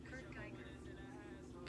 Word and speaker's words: Kurt Geiger: Let's see how you pronounce it. Kurt, there you go. Oh, let's see. Geiger. Okay. Kurt Geiger. Can y'all hear it? Kurt Geiger.